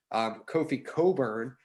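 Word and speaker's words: Kofi Cockburn: Kofi Coburn, careful how I pronounce that, also, seems to get himself in foul trouble.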